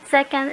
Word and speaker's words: secant: Secant is abbreviated as SEC, S-E-C, but we still pronounce that one as secant.